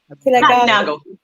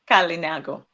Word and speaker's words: Kalinago: The please pronounce the name again. Kalinago. Kalinago.